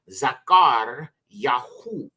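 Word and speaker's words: זכריהו: one is Zachariah and this is pronounced in the iari zakar yaho which means yahwa remembers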